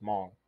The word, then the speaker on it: Hmong: people it's it's it's it's spelled among but like I'm like Among Us except there's no a and there's an H there so it's just Mall and so like David's